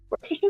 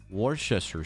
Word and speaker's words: Worcestershire: I add Worcestershire sauce, salt, pepper, garlic powder, and Amazing. And you nailed that pronunciation first try. Worcestershire sauce. Worcestershire sauce.